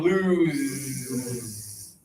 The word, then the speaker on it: lose: And now touch here again. Lose.